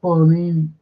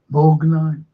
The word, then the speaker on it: Borgnine: And this lad, his name was Ernesto Bornini, but they just dropped the O and they just pronounced it, not Bornini, but Borgnine.